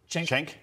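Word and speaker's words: Cenk: Chenk? Yeah. Okay. Yeah. Chenk.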